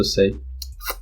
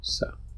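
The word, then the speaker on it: Xhosa: zulu and sa that's xh is actually click itself I think as far as I know it's pronounced sa so in sa and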